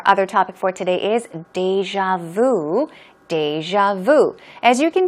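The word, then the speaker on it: déjà vu: As you can see, it can be pronounced 2 different ways. Either deja vu or deja vu. I think a lot of Koreans tend to say deja vu.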